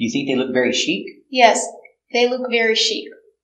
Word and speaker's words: chic: sales brochure very good chic it's an adjective fashionable or stylish pronunciation Chic use the soft sound this is the long e sound she ik they're going to a